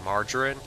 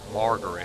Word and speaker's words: margarine: i think it's called it's pronounced correctly margarine i used to call it margaret for a while and of course my